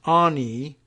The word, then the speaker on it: Anne: Christiane Allen, or Anne, it's A-N-N-E with an accent mark, as she was known by some in high school, pronounced Ani, O-N-E-E, right?